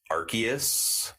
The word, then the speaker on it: Arceus: Pokemon Legends R uh I believe it's pronounced archus oh man archus our